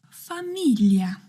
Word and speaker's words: famiglia: Famiglia. Fa doesn't seem like a strange syllable. I think she is talking about gli. Yes, in Italian this syllable is pronounced like the English LL plus Y.